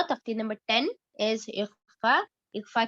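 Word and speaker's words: إخفاء: And this is pronounced, इख्फा इस तरह करेंगे, पंखा जिस तरह से उर्दू में कहा जाता है पंखा, इस तरह से पन का नहीं बोलते, नून की आवाज नहीं आती। तो that is exactly how you will pronounce इख्फा as well, लेकिन इख्फा को ज्यादा टाइम देंगे।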